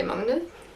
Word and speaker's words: Magnus: Probably not pronounced like that in English. Magnus. In Norwegian we say Magnus.